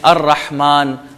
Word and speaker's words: الرحمن: ہے یا سائلنٹ ہے، جیسے ہم کہتے ہیں الرحمن، الرحیم، تو رے حروف شمسیہ میں لام اس کا سائلنٹ ہے۔ ہم آگے بڑھتے